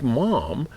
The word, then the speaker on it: Maugham: how could he like Mom if he didn't like Somerset how would he like Mom m-a-u-g -ham I think right and uh it's pronounced mom like Mom like I'm a mom like it's like Mr